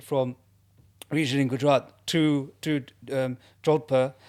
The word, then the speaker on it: Jodhpur: And so, as I said, we shifted from region in Gujarat to Jodhpur, pronounced Jodhpur, in case any Indians watch this podcast and think, he's gone all English on us.